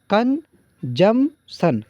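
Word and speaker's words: consumption: कंजम्पशन इसे पढ़ें। P silent देखिए, क्योंकि बहुत सारे वर्ड ऐसे इंग्लिश में आते हैं जो साइलेंट होते हैं, तो क्या पढ़ेंगे? कंजम्पशन, कंजम्पशन goods.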